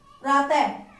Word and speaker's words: प्रातः: की आवाज आती है, और विसर्ग के उच्चारण में आधे ह का आवाज आती है, आधे ह की, जैसे प्रातः ह, पीछे आधे ह की आवाज आ रही है।